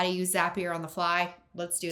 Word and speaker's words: Zapier: It's Zapier as in Zapier makes you happier. Not Zapier like tapier although tapers are cute.